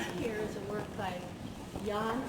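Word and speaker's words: Danh: So this here is a work by Jan Bo, D-A-N-H, Bo. The D is pronounced like Y in Vietnamese.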